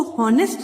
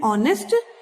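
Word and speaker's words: honest: इसको हॉनेस्ट नहीं पढ़ते, इसको बोलते हैं ऑनेस्ट। एच जो होता है इसमें साइलेंट होता है, इसकी साउंड नहीं होती।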